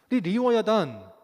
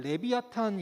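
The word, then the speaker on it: לִוְיָתָן: 그럼 환상의 동물이 뿐입니다 리 워 야단 씨가 버 스 게 발음 이루어야 다니고요 나중에 연못이 게 발음으로는 레비아탄 이라고 번역을 합니다 그래서 한 90년 된거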